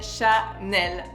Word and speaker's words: Chanel: also my favorite one this is Sha n we pronounce on FR Chael I love Chanel and